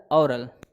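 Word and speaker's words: aural: उसके बाद और बेटा देखो, दोनों का प्रोनाउंसिएशन देखना, ओरल ऑरल, ठीक है।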